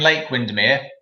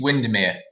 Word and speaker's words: Windermere: And don't be saying Lake Windermere. It's Windermere. Okay.